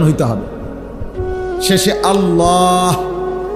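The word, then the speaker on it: الله: শেষে আল্লাহ শেষে একটা গোল হা আছে ছোট হা আল্লাহ মানে আল্লাহু তো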